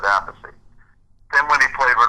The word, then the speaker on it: Appice: Just call the album and the show, spell it out, Appice.